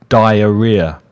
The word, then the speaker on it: diarrhea: The pronunciation of that word is diarrhea.